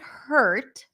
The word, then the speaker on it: hurt: that hurt versus heart so the word hurt is a stir sound so there is no vowel there really we do pronounce the h her her her hurt hurt in for the word heart